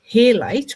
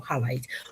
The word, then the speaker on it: halite: The mineral form halite or rock salt I think it's pronounced halite h a l i d or highlight or rock salt is